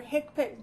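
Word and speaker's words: HCPCS: you to bring your hipic book please you should all have a hipi book do you do you all have a hipic book no no okay so it's that's how it's spelled HC PCS that's the book that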